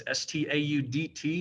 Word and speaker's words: Staudt: That's Staudt. It's pronounced stout like a beer.